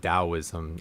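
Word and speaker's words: Taoism: It's there's Toism and it's also called Daoism. I guess technically the T is pronounced with D.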